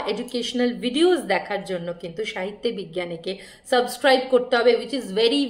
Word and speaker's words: সাহিত্যে বিজ্ঞানে: তার পাশে থাকবে সবাই সাহিত্য বিজ্ঞানের পাশে থাকবে আমি স্পেলিংটা বলে দিই অনেকে উচ্চারণ করে সাহিত্য বিজ্ঞান সাহিত্য বিজ্ঞান আমার চ্যানেলে নাম নয় আমার চ্যানেলের নাম সাহিত্যে বিজ্ঞানে হুইচ ইজ এস এ